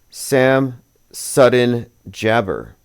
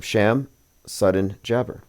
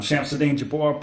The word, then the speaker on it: Shamsuddin Jabbar: But here is a video from 4 years ago of Sam Sudden Jabber, or Sham Sudden Jabber. That is his name, Sham Sudden Jabber. I'm Shamsuddin Jabbar, property manager with Blue. Well, that's how you pronounce it.